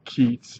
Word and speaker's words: Keats: um Gates and uh Keats is like cheats that's what you can